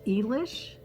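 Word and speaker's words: Eilish: well with the others i think this is pronounced english it is e-i-l-i-s-h but they are so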